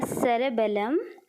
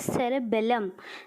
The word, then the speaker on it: cerebellum: After this, let us see the cerebellum. So let us learn how to pronounce. This is cerebellum, that was cerebellum.